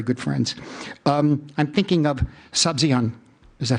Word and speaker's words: Sabzian: I'm thinking of Sabzian. Is that how you pronounce it?